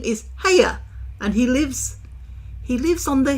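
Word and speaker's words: Haigha: His name is Hager." He pronounced it so as to rhyme with mayor, so said Hager.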